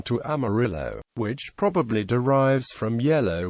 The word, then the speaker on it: Amarillo: and Shores early residents originally pronounced the city's name more similar to the Spanish pronunciation Mir Jo Army Rio